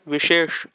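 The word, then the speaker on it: विशेष: The word Vishesh has both the sh, so you will understand difference. Vishesh, Vishesh, Vishesh. As a new learner, you need not take tension of this pronounce because even many native Marathi speaker don't understand the difference between these sh, and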